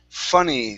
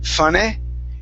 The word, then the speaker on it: funny: First up, we have the word funny. So we're working on the E sound at the end of the word. Instead of funny, it's funny with an E.